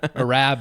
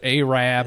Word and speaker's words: Arab: You It's like the like the slur. Yeah. It's not like Arab Al. It's Arab Alabama.